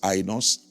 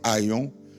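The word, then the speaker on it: αἰών: s'appelle Aon Aon euh il y en a qui le prononcent AOS Aon mais c'est Aon c'est le temps cyclique.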